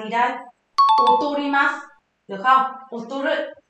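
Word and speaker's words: 劣る: Và chất lượng sản phẩm đi xuống chúng ta sẽ có cách đọc là gì đây? Otorimasu. Được không? Otoru.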